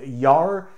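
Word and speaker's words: gjær: means is yeast now the standard word for yeast in norwegian is pronounced yar and if you spelled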